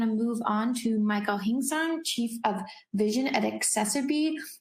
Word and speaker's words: Hingson: It's pronounced Hingsong.